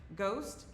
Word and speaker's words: Ghoste: her out Jenny Bruce she's ghost ghost with an E yeah the E is silent I am not right